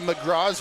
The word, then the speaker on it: McGraw: Liam McGraw, we've been told, is how you pronounce that last name.